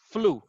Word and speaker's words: flew: This EW is pronounced like U. It's pronounced like ooh. So you don't say like flev. It's flu, right?